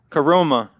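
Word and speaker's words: Koroma: It's pronounced like Corona. Okay, so Coroma instead of okay.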